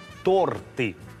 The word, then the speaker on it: торты: так Похоже я поторопился Кеша правильно говорить торты сейчас я буду читать